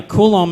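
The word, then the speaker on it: Coulomb: boom that's it okay and so what's this colum barrier am I pronouncing oh yeah yeah kulum is some scientist who was I think the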